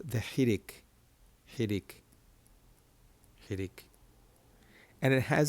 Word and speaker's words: חירק: And it's got an E sound. E. E. Like a short E sound. Not an E, but an E.